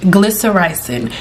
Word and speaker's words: glycyrrhizin: Glycyrrhizin is the powerhouse within licorice root. Glycyrrhizin is a tongue twister, but that's how you say it.